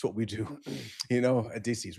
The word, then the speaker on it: Odysseus: Odysseus.